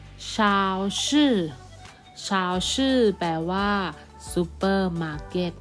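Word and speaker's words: 超市: ไหม คะ เด็ก ๆ อ้ะ ซุปเปอร์มาร์เก็ต ออก เสียง ชาว ชื่อ ชาว ชื่อ ชาว ชื่อ แปล ว่า ซุปเปอร์มาร์เก็ต นะ คะ อ่ะ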